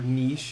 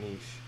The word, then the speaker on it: niche: the hell lowball it's an extremely niche thing or niche if you prefer that pronunciation the the pronunciation of niche is is like kind of pinky out to me so i go with niche um i think it's actually supposed to be niche but uh yeah let's